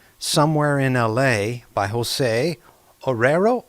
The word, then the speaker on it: Arroyo: by Jose Arroyo.